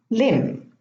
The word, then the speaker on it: limb: So in these words, the B is not pronounced. I'm going to read them again. Thumb, bomb, climb, comb, tomb, lamb, limb, womb, debt, plumber, plumbing.